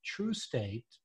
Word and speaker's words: Trustate: And I know that the name of your company is Trustate, but it's spelled like trust, right?